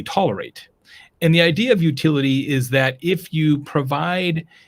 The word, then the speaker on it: Youtility: Yeah, utility, which is spelled YOUTILITY, utility, is creating marketing that is so useful, people would pay for it.